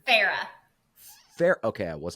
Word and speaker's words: Farrar: Farrah. Okay, I was not saying it correctly. Farrah. So it rhymes, right? Yep, Kara Farrah does rhyme.